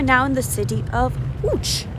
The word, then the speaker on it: Łódź: l with a cross through it and it's pronounced so hooch dad's walking awfully fast for a senior i